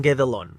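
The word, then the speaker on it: Guédelon: He escuchado Gordelon y Guedelon, pero los franceses usan Guedelon, así que usaré esa pronunciación.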